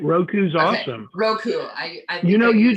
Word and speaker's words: Roku: that on the it's the roku i might be pronouncing that wrong no you said right roku's awesome roku you know